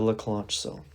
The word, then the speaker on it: Leclanché: I'll write this down so we have the pronunciation. Dry cell {slash} the Leclanché cell.